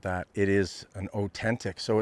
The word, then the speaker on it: Otentik: And we're staying at, this is called an Otentik. Not Ozempic and not Otempic, as I keep making the mistake in calling it that. It is an Otentik.